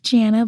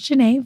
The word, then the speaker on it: Jana: a so looks like Janna but my name is Jana fun fact on Tik